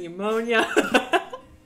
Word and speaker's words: pneumonia: peak uh you know that could start with the silent p yeah p is in pneumonia pythia perb if you